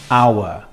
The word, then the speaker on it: hour: Then they look at the next word, hour, and they say, ah, this is an hour because the H is silent.